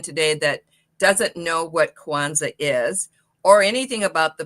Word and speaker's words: Kwanza: So, Quanza, uh Kwanza is a Swahili word. Uh it's spelled with one a at the end.